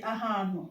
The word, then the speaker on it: ahano: So let's say ahano, which means a place. Ahano, ha, ha, ha. Ahano, a place.